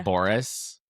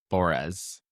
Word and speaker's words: Bores: I always say Boris, and it's Boris.